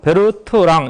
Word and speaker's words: Bertrand: 그래서 그게 이제 베르트랑 모델이에요. 베르트랑. 그래서 이제 이것도 똑같이 프랑스 발음으로 해서 그냥 베르트랑 이렇게 합니다. 그래서 D 발음은 안 넣은 거예요.